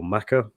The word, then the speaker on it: Mecca: is a little rusty is it pronounced Mecca or maca um is it I always assumed it was Mecca but is there a is there a different way of pronouncing that are both correct they're both correct okay interesting yeah and